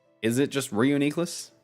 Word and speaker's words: Reuniclus: That's another one that nobody can pronounce. Is it just Reuniqueless? Reuniclus.